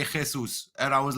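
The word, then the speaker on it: Jesús: They say don't pronounce Junks or Yunks, just say Jesus.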